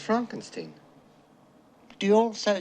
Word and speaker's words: Frankenstein: I have traveled 5,000 miles to bring you the will of your great-grandfather, Baron Beaufort von Frankenstein.